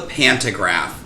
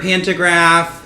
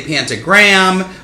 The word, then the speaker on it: pantograph: people hear the word pantograph a lot of people say it wrong and say pantagram whatever we all know